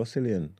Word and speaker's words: Cillian: See, there you go, Cillian. Come on, man. Don't know. It's like Killian.